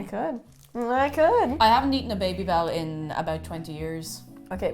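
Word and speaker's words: Babybel: It's kind of funny because like you pronounced it Baby Bell, but the advertisement was Babby Bell.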